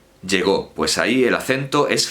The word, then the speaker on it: llegó: Como llego, llegó, pues ahí el acento es fonemático, es un fonema.